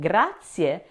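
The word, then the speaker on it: grazie: Now allow that zed or z in gratier to sound like a ts as in cats, not a dzed as in beds.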